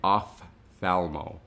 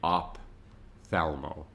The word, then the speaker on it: ophthalmo: work will pronounce it op thalmo so they'll actually pronounce the p but the p is silent when it's combined with that h so it actually makes the f sound off thalmo so when